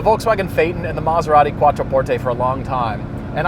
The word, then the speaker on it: Quattroporte: beautiful there's emotion attached you have to say it from the heart Quattroporte on Forte roll your R's and suddenly it sounds